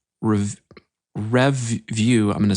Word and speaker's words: Revvue: The other one, which I think is a way better site, is called Revview. I'm going to spell it because the way I'm saying it is not right.